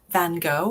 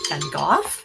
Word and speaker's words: Van Gogh: line terset gives us van gogh or some people pronounce it and goth sorry about that ah